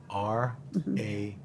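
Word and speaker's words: Ahr: R-A... A-H-R is how it's spelled, and it's pronounced R.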